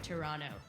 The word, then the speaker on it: Toronto: Toronto have a visit Toronto sorry I meant Toronto you don't pronounce the T learning thanks to everyone